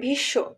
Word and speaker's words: ভীষ্ম: শয়ে ম ফলা আছে, কিন্তু আমরা উচ্চারণ করি ভীষ্ম, ভীষ্ম কিন্তু বলি না। আবার গ্রীষ্মকাল বলি, গ্রীষ্মকাল কিন্তু বলি না, বলি গ্রীষ্মকাল। তাই বাংলায় এই যে ম ফলা উচ্চারিত হয় না।